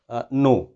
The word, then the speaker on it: know: तो जब भी के और एन साथ आ जाएं तो के की आवाज़ नहीं निकालेंगे।